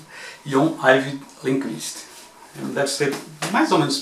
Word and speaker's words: John Ajvide Lindqvist: Jon Arvid Lindqvist. É quase como está escrito. Jon Arvid Lindqvist.